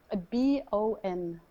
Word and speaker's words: Bon: How do you spell that? B-O-N.